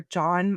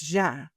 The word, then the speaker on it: Jean: a birthday party for John Meyers. Now, her name is spelled Jean, uh, but in all of the interviews, she goes by John. So, we're going to call her John, and we're just going to do that.